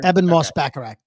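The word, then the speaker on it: Ebon Moss-Bachrach: And is it Ebban? Is that how you say his name? Yeah. Eban Moss Bacharak.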